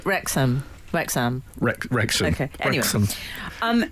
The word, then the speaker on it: Wrexham: Wrexham. It's not as in West Ham. It's as in.